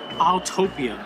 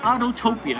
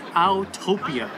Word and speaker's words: Autopia: up uh over there that's autopia not autotopia it's atopia I just wanted to mention that cuz somebody mispronounces it all the time we have a